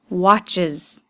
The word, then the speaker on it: watches: He watches TV. It's that IZ sound at the end. Why? Because it ends with a CH, ch sound.